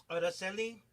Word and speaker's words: Araceli: Araceli.